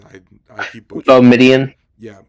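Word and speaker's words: Boumedienne: Can you pronounce his last name for me? Because I keep Oh, butchering it. Midian. Yeah, Boumediene.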